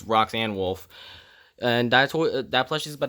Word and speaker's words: Roxanne Wolf: name wrong it's rock i always call her roxy and wolf but it's roxanne wolfe and that plus she's